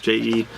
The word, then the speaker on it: Jaeger: I don't think it's pronounced Jaeger, but probably Jaeger or something like that. It's Jaeger. But Erica, how's it going?